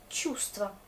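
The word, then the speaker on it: чувство: Tchoust, le mot sentiment. Et du coup, je prononce un peu tchoust.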